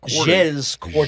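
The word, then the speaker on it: Jez Corden: Earlier this month, Windows Central executive editor Jez, I guess, Jez, is that how you pronounce that? Jez Cordan.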